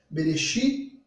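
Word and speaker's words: בראשית: Em hebraico se pronuncia Bereshit bara Elohim.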